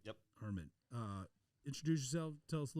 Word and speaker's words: Arman: Pronounce that right? Yep. Arman.